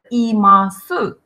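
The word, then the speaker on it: います: сказал глагол и масс и массы но часто когда мы произносим этот глагол да и не массу у часто редуцируется не произносится поэтому говорим и масс и так и масс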